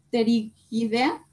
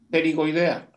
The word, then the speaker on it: pterigoidea: Bueno, aquí las cervicales, vamos a tener la palatina inferior o ascendente, ¿cómo se pronuncia esta? Pterigidea, no sé si me ayude con la... Pterigoidea.